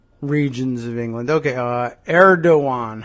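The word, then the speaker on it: Erdoğan: Uh Erdogan, huh? That's the pronunciation or Eeran. Let me take a look at that side by side with the the spelling. Erdogan, huh? No, no G in that song.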